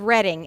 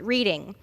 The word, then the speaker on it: Reading: It's demonstrated in the fact that they couldn't pronounce the name of the city of Reading and pronounced it Reading.